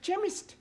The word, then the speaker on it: chemist: oh yes please spell chemist Oh blame does not begin with a K it sounds like it begins with K see H that is making it chemist the CH is pronounced